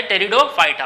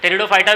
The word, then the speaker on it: Pteridophyta: टेरिडोफाइटा। Okay, P silent है यहाँ पे।